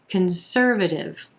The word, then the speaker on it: conservative: number 16 conservative conservative we've got four syllables here with our emphasis on the second syllable and the er as in purple sound conservative that first syllable that c-o-n is going to be a schwa very quick concer then another schwa very quick conservative again it's that contrast